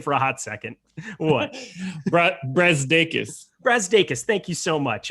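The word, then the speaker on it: Brazdeikis: Brazdakis.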